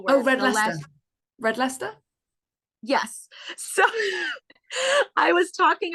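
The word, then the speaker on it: Leicester: a red leer ler red Lester yeah and it does not look the way that it's pronounced and I said something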